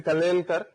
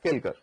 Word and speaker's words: Kalelkar: So generally, it's the Kalelkar, but most of the people will pronounce the name it as Kelkar.